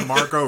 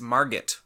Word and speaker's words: Margot: It's a Margot Robbie vehicle and a Will Smith picture. Sorry, you mispronounced it. It's Margot.